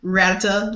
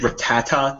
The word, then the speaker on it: Rattata: because I didn't use ratata like a noob it's actually Rattata there's there's an extra syllable in there I honestly thought it